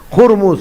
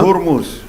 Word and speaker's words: Hormuz: Y ya aprendí que no es Hormuz, es Hurmuz, la pronunciación. Ya, ahí nomás. Ahí. Y esa H tiene que aspirarla. Hurmuz.